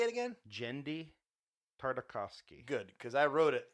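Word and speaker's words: Genndy Tartakovsky: I think Jendi Tartakovsky. Say it again. Jendi Tartakovsky.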